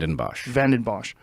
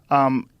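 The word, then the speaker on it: Vanden Bossche: Vandenbosch. Vandenbosch.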